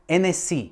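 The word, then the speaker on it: Hennessy: Francúzi totiž nevyslovujú H. Takže nabudúce si v obchode intelektuálne vypýtaj NS.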